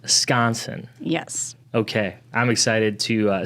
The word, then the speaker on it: Skonseng: I just learned how you say it. I was been saying it wrong the whole entire time, but it is pronounced Skonseng.